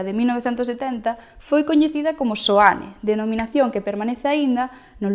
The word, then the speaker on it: Seoane: co nome da vila, chamada Seoane (pronunciada Soane pola maioría dos veciños), que vén do sintagma latino SANCTU IOHANNE, en referencia a san Xoán o Bautista.